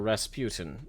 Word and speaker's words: Rasputin: So, with mine, I'm gonna start with my first, which is Rasputin, or Rasputin, if you prefer that pronunciation.